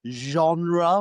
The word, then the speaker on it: genre: to study the Gothic genre which is heno with a very difficult pronunciation in English. We we pretend like we're French and we say genre.